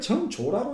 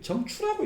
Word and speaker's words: 정추: 힘쓰기를 오래 해서 하루아침에 화련히 관통함에 이르면 모든 사물의 표리와 저걸 정조라고 읽는지 정추라고 읽는데 저게 원래 조자인데 저게 앞에가 정밀하다는 뜻이고 뒤에가 거칠다는 뜻이거든요. 그때는 추라고 읽거든요.